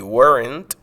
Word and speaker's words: weren't: de was not, y weren't, que es la forma corta de were not. Nótese que en el inglés americano, muchas veces la T al final de esta variante negativa se puede perder la pronunciación, por lo que podemos